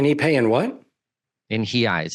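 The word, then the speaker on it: reais: pay in what in hi eyes it's the the proper way of saying what you would pronounce is reals oh sure I had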